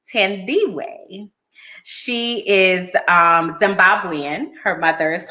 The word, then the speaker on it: Thandiwe: So her name is actually Thandiwe.